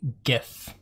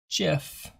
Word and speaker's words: GIF: But there's a lot of contention as to how to say this word. The creator of the GIF says that it's the GIF. However, it is hard G, so I'm going to roll with GIF.